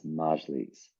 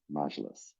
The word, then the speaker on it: Majlis: Side note, folks, if you didn't hear, I have been mispronouncing Majlis, the parliament, as Majlis.